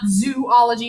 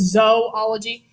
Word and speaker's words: zoology: taking a zoology class it's not zoology it's zoology um but zoology class